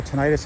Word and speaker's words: tinnitus: That's going to be tinnitus or tinnitus, however you want to pronounce it.